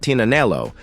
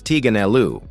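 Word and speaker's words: Tignanello: The name the TIG comes from a wine called Tinaneloo, but sometimes it's mispronounced as Tiganeloo.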